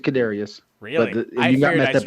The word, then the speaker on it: Kadarius: You had to say Tony twice, he but he had the hard one right. The Kadarius? Kadarius. It's Kadarius.